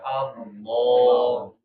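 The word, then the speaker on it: الله: Nah, kalau lam di sini kecuali lafzul jalalah ya, yang bacanya baru dia tebal. Laful jalal itu maksudnya lafaz Allah ya. Allah ya. Allah.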